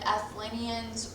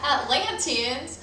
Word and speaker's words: Atlanteans: plato's he said that plato said athelanians were i just said athletes i was going to say i've been saying it wrong this whole time atlanteans were the children of